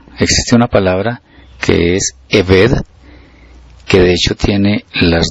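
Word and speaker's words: עבד: Pero espiritualmente siervo y esclavo, que se describen con las letras hebreas, y que la pronunciación es Eved, serían lo mismo ante el Eterno, teniendo en cuenta este significado que estamos comentando.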